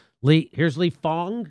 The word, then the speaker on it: Fang: right lee here's lee fong is that how you pronounce it i think it's spelled fang but i think he says fong bang sounds scary the